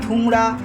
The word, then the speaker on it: ধুংরি: এটা তোমাদের জানিয়ে রাখা ভালো, এই চাটনিটা কিন্তু রাজস্থানের প্রসিদ্ধ ঐতিহ্যবাহী যে চাটনি, ধুংরি বা ধুমরা এরকম বলে। ধুংরি মেনলি বলে থাকে, এবার উচ্চারণ ভেদে এটা এক এক রকম শোনায়।